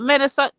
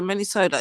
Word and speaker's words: Minnesota: policies of the men is it menot Minnesota is it Minesota it can't be men m i n e the way the way the Americans will pronounce it manipulat looks like manipul I know but it's Minnesota okay so Minnesota yeah um